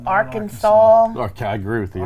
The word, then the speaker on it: Arkansas: And it's Arkansas. There's no 4 at the end of your Lord, name. it's Arkansas.